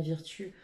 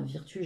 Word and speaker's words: Virtue: On va aller regarder cette carte de confiance des maîtres ascensionnés de Dorine Virtue. Enfin, Virtue, j'aime pas Virtue, moi j'aime bien plutôt le prononcer à l'anglo-saxonne.